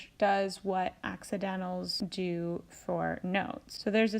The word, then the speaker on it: Di: solfege syllable is Li notice that all of the raised solfege syllables end with the letter I or the sound e so we're just changing the vowel sound on the regular solfege syllables so dough when it's raised a half step becomes D ray becomes REE becomes fee so will become C and law becomes Li so that's a good